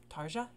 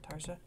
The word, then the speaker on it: Tarja: so uh let's get into it um and i believe this is with the woman t-a-r-g-a tarja is that how you say her name tarsha or tarja um because someone told me that i would